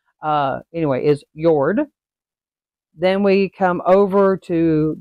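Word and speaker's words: Jörð: little dots above the O uh anyway is yord then we come over to Goddess of Love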